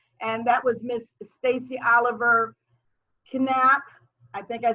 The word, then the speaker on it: Oliver-Knappe: It is Oliver-Knappe. Is my husband is from Germany, so I try to say it Knappe.